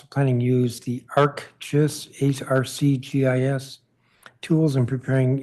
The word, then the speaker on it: ArcGIS: The council should demand that the Office of Planning use the ArcGIS, ARCGIS tools in preparing its analyses of proposed zoning actions. I'm being told how to pronounce it.